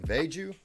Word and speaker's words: VeGue: to it and uh I think it's uh pronounced vegu anyway uh this is